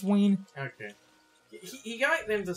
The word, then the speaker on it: Ween: Also, you pronounce it Ween, right? It's Ween.